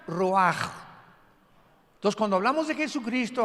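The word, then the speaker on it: רוח: Como suena con R de Raúl, ch al final, Roach y se pronuncia roaj.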